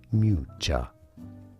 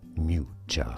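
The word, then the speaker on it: Miuccia: How do you pronounce Matcha Prada? Mucha. Mucha.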